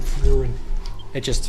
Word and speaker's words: Frieren: I'm reading the manga Frieren, which is a German word, so, but you gotta pronounce it Frieren. That's how it is.